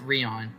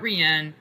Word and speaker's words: Rien: Wait, it's pronounced Rion. Not Rian. Not Ryan. Rion. Do you pronounce it? Rian. Rian. Ri. Rion is how you say it. It's a French word meaning nothing.